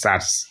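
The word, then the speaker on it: surds: you remember sets actually the correct pronunciation is SATs s u r d s SAT but sets I hope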